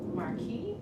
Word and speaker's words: Marquis: So tonight, I'm happy to present Marquis, am I pronouncing it right?